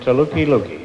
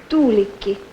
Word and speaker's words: Tuulikki: Sam Rifkin and Tuliki Luki, huh? Is that how you pronounce it? Tuliki Luki? Tuulikki. Tuliki. Tuulikki. Tuliki what? Tuulikki.